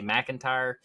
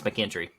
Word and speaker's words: McKinstry: page, but George McKinstry, I keep wanting to say McIntyre, but George McKinstry. Hold on. Andrew sent me the pronunciation, so we didn't mess it up. It's McKinstry.